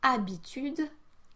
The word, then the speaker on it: habitude: So, words starting in H have been divided into two categories, depending on whether they start with a silent or mute H, le H muet, or an aspirated H, le H aspiré.